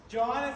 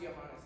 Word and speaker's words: Johannes: he would be visited it's actually pronounced johanes it's not joh language Sound by a